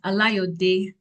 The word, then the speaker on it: Alayode: Aliod.